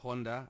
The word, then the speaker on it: Ronda: as a be COA calls her Honda I know that's how they pronounce their are in Brazil but I just got